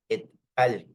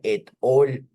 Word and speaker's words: et al: ven que aquí está et al. Y es importante recordar que no se dice et al, eso no es en inglés, ahí le falta una L para que fuera all. Eso es et al, et alteri, significa y